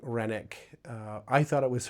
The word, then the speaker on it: Renwick: It is spelled R E N W I C K. It looks like it's Renwick, but I learned when I was there, Renick is the way that you pronounce it.